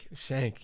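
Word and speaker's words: Schenck: Shank, yes.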